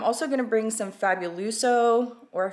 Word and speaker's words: Fabuloso: one so I'm also going to bring some fabuluso or Fabuloso somebody told me I said it wrong in